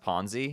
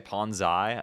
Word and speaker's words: Ponzi: And then ch it's pronounced ponzi. Yeah, that's what I said. I said ponzi scheme. Did I Did I say something else? Did I say ponsai?